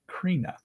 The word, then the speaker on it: Krina: To not embarrass Matt in the future, because I will be tuning in from now on, my name is pronounced like so. Krina.